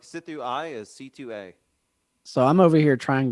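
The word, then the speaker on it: Sithu Aye: like our Jeek music, confirmed that it is pronounced C2A. That is how you pronounce it. Huh. I've does that never mean? known that. So C2A, So like Sithu I is C2A.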